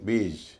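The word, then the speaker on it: beige: ई आई जी ई इसे भी लोग बेज कहते हैं बेज नहीं बेज बेज इसका मतलब होता है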